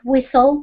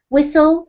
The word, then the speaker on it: whistle: I think it is whistle, because you don't pronounce the T sound. Excellent, that's correct. So this is the odd one out. Could you read the words out for me, please? So tames, whistle, and walked.